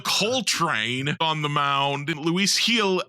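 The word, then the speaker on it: Luis Gil: train on the mound Luis heel actually is how it's pronounced I discovered while listening to the post game last night Luis heel is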